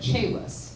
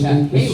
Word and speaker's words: Chehalis: It's spelled Chaliss, so I said Chalice. Yeah. And it is It's Chehalis. Chehalis, but yeah, it's red. Which, by the way, No, it's definitely Chehalis.